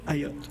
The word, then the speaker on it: Ayat: Le directeur général des services de protection et d'urgence de la ville d'Ottawa, Kim And it Ayat. rhymes with Uyghur.